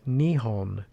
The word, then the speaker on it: Nihon: In Japanese, they pronounce their country name as Nihon, which means the sun's origin, or more poetically, the land of the rising sun.